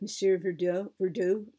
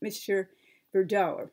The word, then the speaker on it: Monsieur Verdoux: at the end of Monsieur Verdoux. I'm sorry, I'm mispronouncing the name, Monsieur Verdoux. I believe that's the correct pronunciation. My French isn't so perfect.